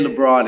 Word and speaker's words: Labron: name up and I just jacked Mr jeez pronounce your name LeBron you said it I'm glad you're saying